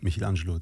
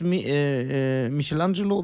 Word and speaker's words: Michelangelo: find ich interessant dass Michelangelo wie wird eigentlich rich ausgesprochen Michelangelo Michelangelo eigentlich Michelangelo aber ich sag Michelangelo wir sind hier in Deutschland okay genau m Michelangelo der